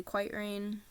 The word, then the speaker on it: QytRain: And if you don't know my other social media, it's basically Quiet Rain. That's how you guys pronounce it. It's Quiet Rain, QYTRAIN.